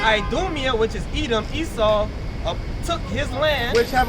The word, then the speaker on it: Esau: It's pronounced Esau.